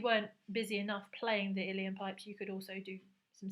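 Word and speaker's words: uilleann: the next instrument was the iliyan pipes I think that's how you say it I think a previous pupil who was Irish I think we managed to work out that it was iliyan pipes and so this is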